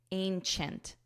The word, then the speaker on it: ancient: review the pronunciation here don't look at the word because the spelling and pronunciation are different just listen to my voice ancient CH chent chent Ancient Ancient through his ancient telescope